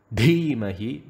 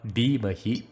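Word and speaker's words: धीमहि: So it should not be Bhur Bhuvaha. It should be Bhur Bhuvaha. Bhargo and not Bhargo. Dhimahi, not Dhimahi. Dhiyo, not Dhiyo.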